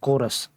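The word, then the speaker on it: chorus: आगे है कि द लेटर सी एच और चोरस, ये किसकी आवाज़ देगा? हमें सी एच की साउंड देगा, बल्कि के की साउंड दे रहा, कोरस। इसको हम क्या पढ़ेंगे?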